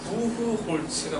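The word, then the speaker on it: Buchholz: 부후 홀 쯔라고 하기도 하고 츠라고 하는데 츠가 좀 맞는 것 같아요. 부후홀츠가 맞는 것 같아요.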